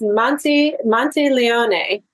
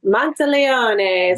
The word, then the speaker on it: Monteleone: It's Monteleone. is the Monty Italian Monteleone.